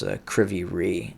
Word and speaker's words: Kryvyi Rih: And again, that's Kryvyi Rih, is I believe the pronunciation of that town.